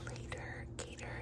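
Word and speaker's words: l8r g8r: third one called the later gator and it's spelled like l 8 r g 8 r later gator later gator later gator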